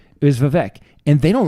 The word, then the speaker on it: Vivek: No, it's Vivek.